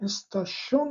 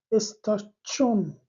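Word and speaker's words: station: که تلفظ این کلمه استاشون نیست تلفظ این کلمه چی هست استاچون استاشون بین چه و بین چه این به اصطلاح تنفس تغییر می‌کنه شما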